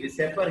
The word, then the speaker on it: VSEPR: वैसे तो ये विसेपर है, बट इसका प्रोनाउंसिएशन हम वेस्पर थ्योरी के अकॉर्डिंग करते हैं। वेस्पर थ्योरी इसको पढ़ा जाता है, बट in actual it इज विसेपर theory, which is valence shell electron pair repulsion theory.